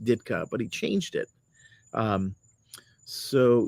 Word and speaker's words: Dyczka: Mike Ditka, his real name is Michael Dyczka. So it's probably pronounced Ditka, but he changed it.